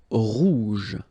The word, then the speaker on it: rouge: Rouge. Remember, G-E, je.